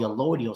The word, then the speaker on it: allodial: and it's called the allodial system. It's spelled all O dial like soap or dialophone. So all O dial, allodial, and it's our right in private property.